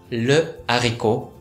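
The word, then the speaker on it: le haricot: なのでうの綴りを残したまんま、ルアリコと発音します。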